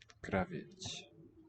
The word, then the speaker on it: кровать: pre-tonic o shifts to just an a.